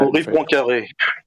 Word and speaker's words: Henri Poincaré: How would you pronounce that? Henri Poincaré.